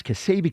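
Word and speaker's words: Ksebe: Kasabi. How do you spell it?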